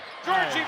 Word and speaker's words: Giorgi: here's a pass down L Georgie B put it up in the Georgie B name is really kind of famous here now nobody really tries to pronounce my last name my full name is Georgie banil I'm originally from rustavi Georgia I'm